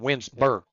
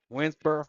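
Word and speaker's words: Winnsboro: You got to you got to say it like them. Winsur. Winsburur. Winsur.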